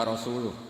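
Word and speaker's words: رسوله: Allah itu terbebas, gak urusan dengan orang musyrik, wa rasulih juga gak ngurus Rasulnya. Kalau sama Rasul saja tidak ngurus, apalagi sama kita. Terus sama Sayyidina Ali dibenarkan, yang benar bacanya itu wa rasuluh.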